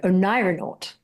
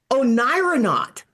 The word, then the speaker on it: oneironaut: Oneironaut. Oneironaut. Oneironaut, as in like astronaut, cosmonaut, psychonaut, but onair is to be exploring in dreams.